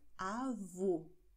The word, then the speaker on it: avô: Großmutter heißt Avó und Großvater heißt Avô. Siehst du? Avó offen, Avô geschlossen.